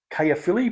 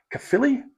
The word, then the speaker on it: Caerphilly: today is unpronouncable because we've been calling it Kay Philly but it's cilli I believe uh this is a